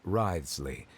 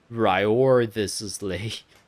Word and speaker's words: Wriothesley: personal dealings with the administrator of the fortress, Wriothesley. He's a very shrewd fellow. That's how you pronounce that. I've been trying to pronounce it as Wriothesley. Wriothesley.